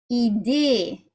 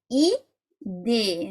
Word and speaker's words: idée: You say an E and smile.